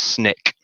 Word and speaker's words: SNCC: Conference, and the Student Nonviolent Coordinating Committee, SNCC, pronounced SNCC.